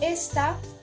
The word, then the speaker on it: esta: en la última sílaba esta se encuentra en este acento en la primera sílaba no en la última eso nos quiere decir que esta palabra es grave y ya que nos